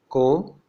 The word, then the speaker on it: comb: Then we have MB, where B is silent, as in bomb, comb, tomb.